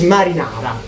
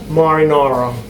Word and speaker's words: marinara: Less famous, but best, better, is marinara. Marinara. Marinara. Can I say this? Marinara, yes. Marinara. Pronounce every vowel. Every fucking vowel.